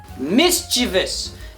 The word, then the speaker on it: mischievous: is it not now say it with me mischievous not mischievous this is not a really bad playwright by Steven Seagal mischievous mischievous Miss Chi bus are you following me